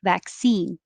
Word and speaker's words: vaccine: back bay 45 vaccine vaccine stresses on e vaccine 46 dismantle or noti